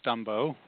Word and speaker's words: Stumbo: It is Stumbo, rhymes with Dumbo, and heard that enough times as a kid that I just own it.